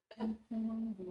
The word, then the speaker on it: Mpulungu: I keep adding extra syllables. Mpulungu. To Mpulungu.